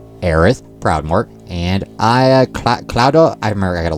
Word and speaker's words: Cloud: two NPCs named aith proudmore and I CL cloudo I remember I got to look and see remember how do they pronounce Crow crowd crowd crowd AR crowd so yes it's obviously